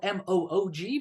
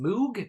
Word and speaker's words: Moog: spelled M-O-O-G, but it's not pronounced Moog.